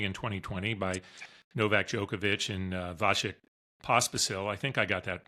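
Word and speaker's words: Vasek Pospisil: The PTPA was founded only in 2020 by NovakJokovic and Vashik Pospasil. I think I got that pronounced right.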